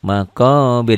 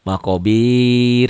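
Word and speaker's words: مقابر: Hatta Hatta zurumul maqobir tuh maqabir jangan maqobir salah ya banyak yang baca begitu Jadi di Imam lagi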